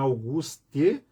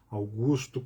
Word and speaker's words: Augusto: Basta pôr no Google ali, Internet Archive, Augusto Conte, Augusto, não é Auguste, Augusto Conte, apelo aos conservadores, logo aparece.